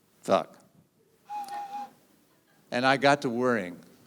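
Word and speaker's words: Funck: Her name was Miss Leah Funk, but it was spelled F-U-N-C-K. You could have, if you were a beaver, say Fooch or Futch, but she pronounced it Fuck.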